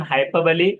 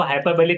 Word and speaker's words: hyperbole: जैसे कि simile, metaphor, आयनी, personification, alliteration, हाइपरबली, इसको हाइपरबली कहना है। हाइपर बोल पढ़ते आते हैं डीएड वगैरह में, तो हाइपरबली होता है प्रोनाउंसिएशन।